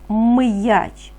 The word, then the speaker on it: м'яч: і так вимовляємо слово м'яч який перший звук ми з вами чуємо м'яч так ми чуємо звук м він твердий приголосний тому позначаємо його рисочкою